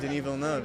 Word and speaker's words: Denis Villeneuve: And the way you say his name, you say it properly. I love that. Yeah, I know, the French, although he's French-Canadian, but somehow it kicks in.